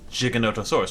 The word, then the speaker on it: Giganotosaurus: It's weird that the full word is Giganotosaurus, right? It's a soft G. It's a J.